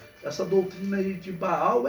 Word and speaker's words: Baal: se você não sabe como se pronuncia senhor em aramaico é Baal Baal significa senhor ou